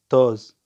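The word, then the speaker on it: toz: بعدها توز اللي هو تراب. توز توز التراب. فرق بينها وبين الملح، ذيك توز هاي توز، يعني فرق حرف واحد، هاي او هناك او بالنص.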